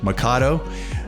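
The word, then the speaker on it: Mikado: at Mado Baptist Church that's m k a d o makato um people say it many different ways but that's how you say it and that's in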